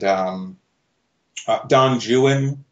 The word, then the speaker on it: Don Juan: It would be, like there are all these stories like Childe Harold's Pilgrimage and Don Juan, which is how you pronounce Lord Byron's version, by the way.